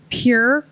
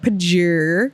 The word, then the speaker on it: Pjur: It is the Pure Cult, and that's spelled PJUR. I like to call it Pajur. Pajur. But it's supposed to be pronounced so pure.